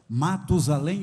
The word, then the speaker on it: Matusalém: Matusalém ou Metusalém, tanto faz a pronúncia, correto?